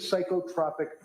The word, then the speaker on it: psychotropic: What is psychotropic medication with adverse reaction? What does that mean? It's pronounced psychotropic. And Sorry?